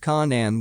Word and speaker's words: Canaan: which eventually migrated to canaan pronounced conan with the k sound of the serpents a